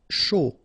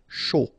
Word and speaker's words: chaud: Chaud. Final D not pronounced, and then when you combine this C and H, you get the sh sound. A and U, O. Chaud.